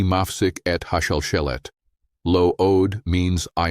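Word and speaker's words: מפסיק: The phrase is, Ani Mafsik et Hashalshelet, lo od.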